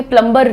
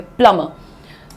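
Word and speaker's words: plumber: की तरह बोलते हैं प्लमर। कैसे बोलेंगे? प्लंबर नहीं बोलेंगे। प्लमर so please call the प्लमर। There is a leakage in the washroom. प्लमर क्या है? प्लम। प्लमबर प्ल म प्ल म दैट्स इट।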